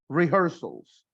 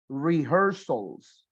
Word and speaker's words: rehearsals: Or preparaciones, rehearsals. All right? Esa H intermedia suena como una J. Rehearsals.